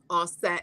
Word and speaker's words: Aset: Greeks use those terms, but the Medu Neter clearly has it written to pronounce it as Asar, Aset, and Haru.